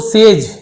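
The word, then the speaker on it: sage: तो सेज जी के साथ ई हो, आई हो या वाई हो तो जा पढ़ा जाता है जी को।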